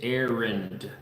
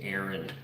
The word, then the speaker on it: Arend: It is Arend. It's got a D on the end of it. It's harder to pronounce maybe in the English language, so often people just say Aaron or Arend. But yeah, anyway, the D doesn't really sound very loud. Are you making me another cup of coffee?